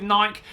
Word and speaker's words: Nike: last couple of weeks, or Nike if you're this side of the pond, that side of the pond, depending on how you want to pronounce it. But I'm going to stick with Nike.